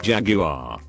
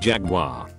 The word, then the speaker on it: Jaguar: friends when we were talking cars and I pronounced to make Jaguar dauch a bag on the next stool takes the time to lean over and say it's pronounced Jaguar friends with quat they knew me turn to